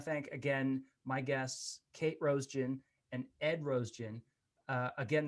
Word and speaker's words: Roesgen: I want to thank again my guests, Kate Roesgen and Ed Roesgen. Again, that's pronounced Rose Gin, like rose flavored gin.